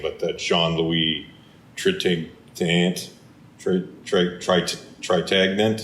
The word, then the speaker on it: Trintignant: Tritagnant. That's good. That's how you say it.